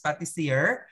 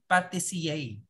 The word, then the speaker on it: pâtissier: Ayan, ang tawag naman sa kanya is pâtissier, but you pronounce it pâtissier.